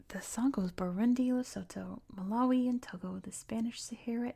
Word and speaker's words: Malawi: And And he also says Maloi. It's Malawi.